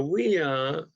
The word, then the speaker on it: Wiya: Now, Wiya is 2 syllables.